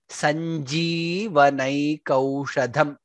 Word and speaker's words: सञ्जीवनैकौषधम्: Daityendrarti karaushadham tribhuvane, tribhuvane sanjeevanaikaushadham, ji dirgha there, sanjeevanaikaushadham.